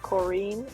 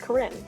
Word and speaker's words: Corinne: Now, I have heard it pronounced different ways. I've heard it Corinne, I've heard it Corinne, I've heard it Corinne. For the sake of my sanity, we're going to go with Corinne, because I think that's a pretty pronunciation.